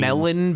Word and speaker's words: Mellon: the study of machine melon bank that's what it's called melon like the fruit uh it's spelt with